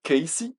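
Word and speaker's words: Cayce: tirés ce personnage c'est Edgar Casy C a yce prononcé K ici qui dans les dernières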